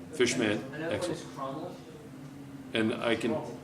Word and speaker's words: Chromel: It's CHROMEL. CH, ROMEL. It's 90% nickel and 10% chromium. In 90% nickel. So it's not chromial like this. No. All right, so how do I spell it? CHROMEL, chromal.